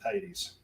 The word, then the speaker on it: Hades: of her relationship with Hades. Yes. Also, I want to thank Alekai for completely corrupting my modes of speech on pronouncing, instead of saying Hades like every other American, now I'm saying Hades.